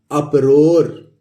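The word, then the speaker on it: uproar: तो double U के बाद, यू के बाद यू है, ये डबल कॉन्सोनेंट आ रहा है, तो हम इसको अप्रोनाउंस करेंगे। तो क्या हो गया? यू से अ और ये प और ROAR, रोर, तो ये क्या हो गया? अप-रोर।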